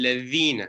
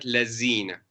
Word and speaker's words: الذين: Allahu waliyul ladhina, not lazina. It's not za, it's the. Ladhina aman.